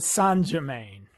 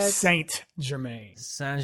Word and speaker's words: Saint Germain: an extra point because you said san germain instead of saint germain that's literally how they say it in the show so unless you did